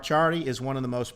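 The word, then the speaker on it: Ciardi: uh podcast mark chardy look mark charlie up it's spelled c-i-a-r-d-i mark charlie is one of the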